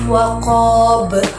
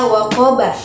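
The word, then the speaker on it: وقب: Waqab ini tidak boleh dibaca waqaba karena pada bacaan ini terdapat huruf qalqalah yaitu ba yang berada di akhir kalimat dan dibaca mati karena waqaf. Jadi cara membacanya itu harus waqab, tidak boleh dibaca waqaba.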